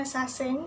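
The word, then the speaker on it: 사생: nanti banget kedelai Gisaeng tulisannya sasaeng tapi dibacanya sasing Karena menurut hangulnya shining shining shining itu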